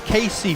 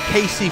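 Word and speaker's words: Cayce: I'm going to say it's as simple as Casey, Florida. It's spelled C-A-Y-C-E. I'm going to say Casey, Florida.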